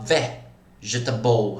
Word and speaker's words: vegetable: Olha lá o vegetable. Repara, pessoal, é a sílaba tônica, é a quarta. Contando do final para o início da palavra é a quarta sílaba tônica.